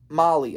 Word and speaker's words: Mahle: Mahle, I think is his pronunciation.